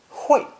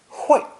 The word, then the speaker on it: 会: This character is pronounced fourth tone, 会, 会, and sometimes fourth tone, 快, 快, depending on the meaning.